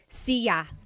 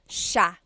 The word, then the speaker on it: siya: It looks like it should be pronounced siya, siya, but it's actually pronounced sha, sha.